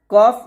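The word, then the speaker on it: كاف: উপরে তাল সঙ্গে লাগাইবেন আর কাফটা অবশ্যই পাতলা করে উচ্চারণ করবেন এভাবে কাফ এরকম এর আগের হরফটা ছিল ওটা মোটা ছিল আর কাফটা পাতলা কাফটা পাতলা করে উচ্চারণ করতে হবে এভাবে কাফ এভাবে উচ্চারণ করবেন ছয় নং আছে জিহবার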